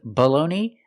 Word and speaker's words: baloney: The first vowel is the short uh sound uh like cup and up. B below. The second vowel is a long o like no and go together. Below bologoney. The last vowel is a long e like green beans. E together baloney.